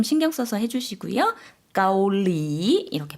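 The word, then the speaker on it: เกาหลี: เ ก า ห ล ี 앞에는 평성이고요. 뒤에 사성으로 내렸다가 올려주시면 돼요. 한국 분들이 많이 발음하실 때 까올리 이렇게 많이 발음하시는 경우가 많은데요. 앞에 평성 좀 신경 써서 해주시고요. 까올리 이렇게 발음해 주시면 되겠습니다.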